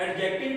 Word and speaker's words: adjective: यहाँ पे D silent है। कुछ लोग पढ़ते हैं जी एडजेक्टिव। एडजेक्टिव जो है प्रोनाउंसिएशन है जो, ठीक है जी, अकॉर्डिंग टू ऑक्सफोर्ड डिक्शनरी उसके मुताबिक यहाँ पे जो डी है वो क्या जाएगा जी? साइलेंट आएगा।